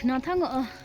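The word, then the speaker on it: Gnathang: নাথাং স্পেলিংটা কিন্তু জি দিয়ে স্টার্ট, কিন্তু উচ্চারণে জিটা হয় না।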